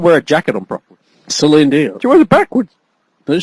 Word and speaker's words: Celine Dion: and that was actually redone by Selena Dion. Selena Dion. Yeah, Celine Dion.